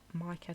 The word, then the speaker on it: Micah: I'm going to leave me Micah to the end. I want to call him Misha because I'm sure you can pronounce his name as Misha, but no. Sage.